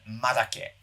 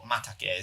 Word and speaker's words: madake: Taiwanese species of bamboo, and madake, or matake as some people pronounce it. It's the same thing.